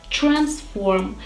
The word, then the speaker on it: transform: In American English, the combination of letters T and R should be pronounced as ch, not ter, but ch.